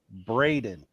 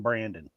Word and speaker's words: Braden: Like, and we commonly call him Braden. Mm-hmm. Like, and Braden is 21 years old. And to this day, that old man still calls him Brandon. Brandon. Yeah. I'm like, it is spelled Braden. That's Braden.